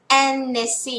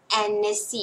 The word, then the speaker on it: Annecy: า เ อ น เ น ส ซี่ Annecy น ะ ค ะ เ สี ย ง แ อ Annecy น ะ ค ะ Annecy ก อ น